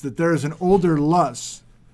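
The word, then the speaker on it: Löss: Bretz, writing in 1952, George Neff is convinced that there is an older Luss, he pronounces it Lursh, in the Palouse, beneath some of the Scabland gravel deposits, to a younger, much overlying these gravels.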